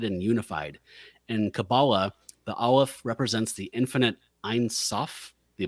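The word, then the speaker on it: aleph: didn't know this word Armageddon that uh it's pronounced olive olive yeah I was saying Al but it's Olive and it's the first letter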